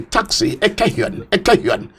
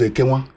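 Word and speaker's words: Ekenwan: pronouncing Nigerian languages because each time she wanted to go to Ubo campus, she would come out on the street in Benin City and taxi, Ekehuan. Ekehuan was Ekenwa.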